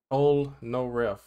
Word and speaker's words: Polnareff: How do you pronounce that name? Pol, is it Polnareff or is it Polnareff? Polnareff.